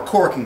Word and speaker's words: calking: corks to someone or corking someone and pronounced like cork like wine cork even though it's spelled c a l k or corking c a